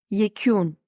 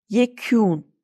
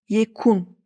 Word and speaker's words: yekûn: Bakın, U'nun üstünde şapka var ve bu U ne normal U ne de Ü. Dinleyin lütfen. Yekûn. U'nun üstünde şapka olmasaydı şöyle telaffuz ederdim. Yekun.